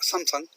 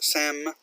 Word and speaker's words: Samsung: Again, American pronunciation, or I'll say English pronunciation is not Samsung, but Samsung.